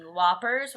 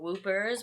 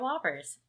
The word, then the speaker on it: Whoppers: I'm eating Whoppers, or what I like to call Whoopers, but they make Josh mad when I mispronounce them, so they are Whoppers.